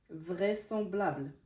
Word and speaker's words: vraisemblable: s'est pas prononcé le son Z, il s'est prononcé en son S. Contresens. Parasol, vraisemblable, vraisemblable.